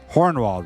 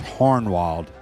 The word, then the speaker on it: Hohenwald: of old Holland um hornwald Road it's spelled Hohenwald Road h-o-h-e-n-w-a-l-d um the way you pronounce it here in London Tennessee is hornwalled with an R h-o-r-n-w-a-l-d so hornwald is how you pronounce it so you know hornwald